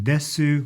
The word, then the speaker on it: desu: When you see that in writing, desu, masu, in reality, the u at the very end is really not pronounced. I say that, and I don't know the exact rule. I've never asked a Japanese person this before, but men are more likely definitely not to say the U.